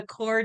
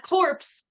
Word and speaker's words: Corps: A core degree, not corpse, but core degree.